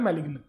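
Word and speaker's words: malign: अब एक वर्ड है मलिन, लोग इसको मैलिग्न भी बोलते हैं, जी को साइलेंट करें तो मालिन भी बोल सकते हैं, मलाइन भी बोलते हैं, पर मेन होता है मैलिग्न।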